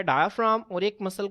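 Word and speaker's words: diaphragm: अक्सर बच्चे इसमें से जो है वो जी को जो है वो मिस कर देते हैं क्योंकि इसकी प्रोनाउंसिएशन में जो है वो इस्तेमाल नहीं होता।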